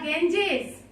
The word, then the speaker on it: Ganges: The Himalayas, the Ganges, Ganges. Ganges means the river Ganga. In English, we pronounce it like the Ganges.